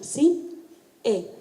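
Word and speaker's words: Sin É: se llama Sin E, así como suena, Sin E, con acento en la E.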